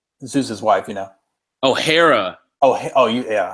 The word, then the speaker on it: Hera: Oh, Hera. Yeah. I always pronounced it Hera, but yeah, Hera.